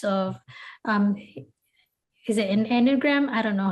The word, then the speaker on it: Enneagram: Um, and I'm really glad that you walk us through these different types of um, is it an Enneagram? I don't know how to pronounce it. Enneagram. Enneagram.